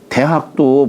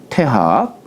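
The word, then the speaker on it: 大學: 단순한 그러면은 문의 태간 호위과 여기 큰 대자를 옛날에는 태라고 읽었어요. 본래 의미 태예요. 그러니까 우리 대학도 본래 읽을 적에는 태학이라고 읽었죠. 태학. 음. 근데 주자가이 태학을 대학 큰 대자로 대로 읽게 한 것 이유는 뭐냐면 이때 대는 대인의 뜻으로 해서 읽어라. 예. 그래서 태학이 대학이 된 거예요.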